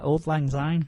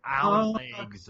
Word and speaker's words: Auld Lang Syne: that actually how you pronounce the title of that Old song? lang syne. Yeah, Auld Lang Syne. I thought it was like Alan Legs.